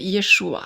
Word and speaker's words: Yeshua: En hébreu, c'est Yeshua. Donc, le J doit être prononcé comme I, de la lettre Yod, quoi.